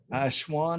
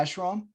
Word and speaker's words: ashram: said he was going to build an ash ashwan i think is the name of it a buddhist uh monastery and one of the other monks said um yeah ashram yeah that's how you say it so he